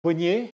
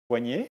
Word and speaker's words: poignet: So poignet. Now everybody says poignet, but the old way to pronounce it was poignet, like a monion, like etc.